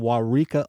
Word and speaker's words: Waurika: A lot of syllables. Wow. Yeah. Originally from Waurika, Oklahoma.